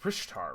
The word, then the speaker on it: Richter: citadel richter uh rishtar it's rishtar right how do i pronounce it's a german name i just can't i'm just bad at give me give me this yeah it's rishtar so yeah it's alan